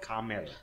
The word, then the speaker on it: Carmel: It's called Carmel. Carmel. C-A-R-M-E-L. Like how Americans pronounce caramel.